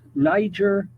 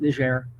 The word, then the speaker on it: Niger: Okay, now, can somebody please tell me when we started calling it Niger? When the hell did that happen? All the years I was growing, it was Niger, not with a hard G and a long I, Niger, and you had to pronounce it correctly, because if you pronounced it the other way, you could get killed.